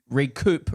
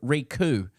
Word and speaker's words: recoup: Transit and the alleged price gouging, He Goes pronounced re- recoup re-coo.